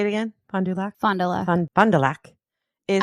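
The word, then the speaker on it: Fond du Lac: fondul say it again Fondulac fondel Fondulac is I'm sure the French pronounce it very different but in Wisconsin that is how we say it it's a French name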